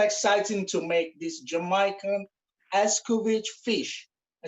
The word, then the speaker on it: Escovitch: I'm so excited to make this Jamaican Escovitch fish.